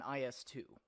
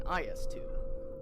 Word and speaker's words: IS-2: But if you pronounce it like this, which is closer Joseph to the Russian Stalin. pronunciation, it's an IS-2. Neither are wrong, but I see people get into arguments over this all the time.